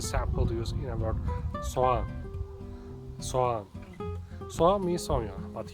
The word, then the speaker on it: soğan: to spell soğan, then you can just ignore angelic G and read it as soğan. If you pronounce O letter a little bit longer, then it will be more like soğan.